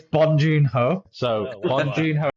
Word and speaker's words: Bong Joon-ho: It's Bong Joon-ho.